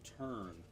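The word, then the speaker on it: Tern: it says uh br's turn that's spelled t RN like the bird like the bird ever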